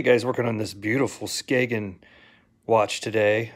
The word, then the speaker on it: Skagen: working on this beautiful Skagen watch today I believe that's how you say it uh skoggin Skagen you you know potato potato whatever these are made in